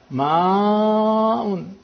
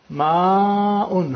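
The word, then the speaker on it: ماء: And that is to bring out the Hamza, otherwise the Hamza will get lost. Ma'un. Hamza is a very difficult sound to be pronounced. So it has to be brought out, pronounced clearly, so the vowel is lengthened.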